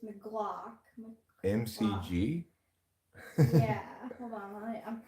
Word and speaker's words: McLachlan: I think it's like McLog. Spelled with an A or a C? I think a C. I think it's McGlock. MCG? Yeah. Hold on. I'm finding out. Oh, I'm sorry. MCL. McLaughlin.